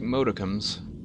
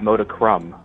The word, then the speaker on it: modicum: Well, I do like modicums. Modicum. Not modicrum, modicum.